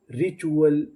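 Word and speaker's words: ritual: RI, री, TUAL, चूअल, रिचुअल, रिचुअल।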